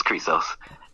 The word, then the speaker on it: Chrysos: Correct, yes, it's Chrysos.